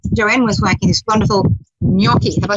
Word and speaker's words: gnocchi: the kitchen, and Joanne was making this wonderful gnocchi. Have I said it right this time? That's right, gnocchi.